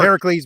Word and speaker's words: Heracles: talk English anymore GE well Heracles because um for the Hera you got to pronounce the Hera part because the God is Hera right so so does